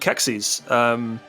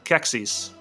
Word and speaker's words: Qexi: But last I knew, a Q with an E is just going to be a K.